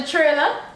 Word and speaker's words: trailer: Did you watch the trailer? Triller. Yo, you watch the Triller yet? I can't. Yo, I know people mispronounce that one there. Trailer. Triller. Somebody.